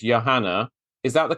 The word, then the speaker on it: Johanna: is spelled exactly the same as yours it's Yanna is that the correct pronunciation yes it is great but I like